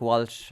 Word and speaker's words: Walsh: Lee Chin, Paddy Deegan, Walter and Podrick Walsh. I would refuse to call them Welsh. It's spelt with an A, so it's Walsh. It's Walsh for me.